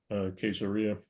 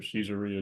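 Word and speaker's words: Caesarea: and just south of Queseria or Caesaria depending on how you wish to pronounce it.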